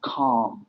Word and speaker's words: calm: For you, Juan, have the word impressive to close that word, and the pronunciation of calm, which is an ah sound.